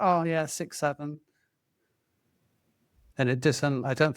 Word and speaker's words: 67: To old people like us, we'd pronounce it 67, but no, this is 67.